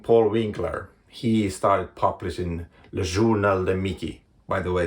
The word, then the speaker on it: Le Journal de Mickey: In 1934, a man named Paul Winkler, he started publishing Le Journal de Mickey. By the way, that is the exact way it's pronounced in France.